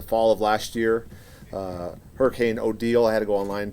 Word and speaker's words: Odile: of last year, Hurricane Odile, I had to go online to make sure that I'm pronouncing that right. It's Odile, not Odile.